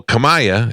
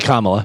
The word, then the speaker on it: Kamala: on The View oh Kamaya is that what you said on The View okaya Cala you I can't believe that after all this time you don't know how to pronounce it it's actually Kamala yeah close enough can